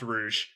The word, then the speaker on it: Rouge: with shadow rose and omega rouge it's definitely pronounced rouge it's a hundred percent pronounced rouge it's not even spelled the same way as